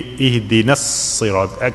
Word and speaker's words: اهدنا الصراط: Okay, na here you see with the alif, that alif is silent. Okay, you have to connect the noon with sad, so it's going to be ihdina as-sirat. Consider there is no alif.